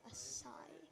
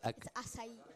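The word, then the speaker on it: açaí: No, I don't understand why people say acai. It's acai. Acai. See? There it is. These are her sponsors. Acai. It's acai. Acai. It's acai. That's why it has the acento en la I.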